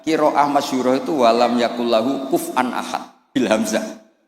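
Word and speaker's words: كفؤا: Harusnya qiraah masyhurah itu walam yakullahu kuf'an ahad bil hamzah. Dan rata-rata qiraah sab'ah bacanya, qiraah sab'ah bacanya walam yakullahu kuf'an ahad. Bukan kufuan.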